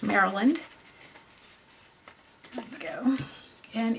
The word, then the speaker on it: Maryland: A lot of foreigners call it Maryland, but it's actually pronounced Maryland.